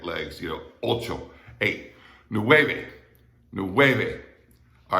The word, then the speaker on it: nueve: wavy is pronounced but that v in the middle is not like an english v it's kind of like a b without your lips closing it's that kind of